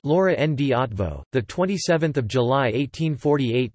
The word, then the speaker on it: Loránd Eötvös: Lauren de Gaston or Lauren B at voz pronounced Laura and D advo the 27th of July 1848 to the 8th